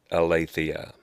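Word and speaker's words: ἀλήθεια: word of the day today's Greek word is ilithyia that's pronounced aleisea so the English words for ilithyia would be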